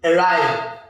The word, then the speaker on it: arrive: For example, arrive, arrive, arrive, arrive. So you're going to stress ride, ride, ride.